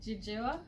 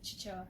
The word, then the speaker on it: Chichewa: In Jijewa. Yeah. Chijewa. Chichewa. Oh yeah. Spelling here. Ben almost grilled me for that. For Who? saying Jijewa instead of Chichewa.